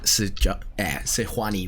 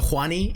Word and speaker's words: Sejuani: sejuani was also so huani is a joke that me and my friends back when we played a lot of league would make i understand that that's not how it's pronounced but we we always just emphasized the j is an h and it just kind